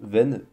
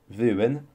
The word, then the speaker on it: ven: Le passé se prononce ru, ru, devant le verbe, et le futur quant à lui se prononce ven, ven, pareil devant le verbe.